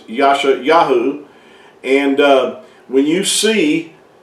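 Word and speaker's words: ישעיהו: madeup name as well it's not the real Hebrew name for the prophet Isaiah his his real name in Hebrew is Yasha yahu and uh when you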